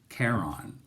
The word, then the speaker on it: Chiron: So when they get to the security guard, his name is Chiron, spelled C-H-I-R-O-N, but he pronounces it Charon. So as in like care and on.